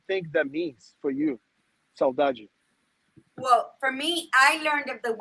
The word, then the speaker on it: saudade: Saudade. Saudade, perfect.